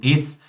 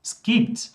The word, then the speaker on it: es: É o nosso pronomen es. Ele vai ser pronunciado só como S, ou seja, só como ps, ps.